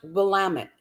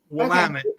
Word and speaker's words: Willamette: It's pronounced Willamette. Willamette? Willamette.